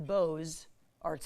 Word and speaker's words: Beaux Arts: art fairs it is the beau arts fair or if you prefer the french pronunciation the bose arts fair the spring edition is